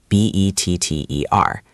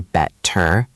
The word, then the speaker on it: better: The same thing happens with the word better, B-E-T-T-E-R. We don't say better, we say better, better.